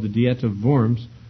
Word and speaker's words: Worms: an imperial diet at vorms to give account of his writings this is usually called the diet of vorms unfortunately for english pronunciations it's spelled like a diet of worms and that's obviously has